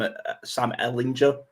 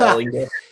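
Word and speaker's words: Ehlinger: I mean, for ourselves, mine is Sam Ellinger. I believe the Americans say it, but Ellinger, that's how we say it.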